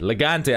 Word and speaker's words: L-Gante: we go folks here we go legante legante i said it right i said it right